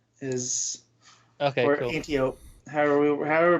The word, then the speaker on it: Antiope: as well, but it's Antiope is or cool. Antiope. However we're pronouncing it. I'd put Antiope because it's like Aphrodite, isn't it? And, right. So. I just said Antiope because it sounds like antelope.